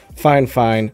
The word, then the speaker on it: FIFINE: apple game usb microphone pronounced fine fine specifically by fine fine even though there's only one n in the name i'll be using the